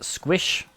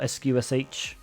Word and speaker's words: sqsh: can use the command squish or sqsh um however you want to pronounce it uh to connect which